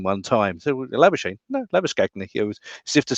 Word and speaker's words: Labuschagne: And every time he referred to Labuschagne, he was actually using the South African pronunciation, which is Labuschagne.